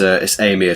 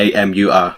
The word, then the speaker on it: Amur: It's Amur tiger Oh. now. AMUR.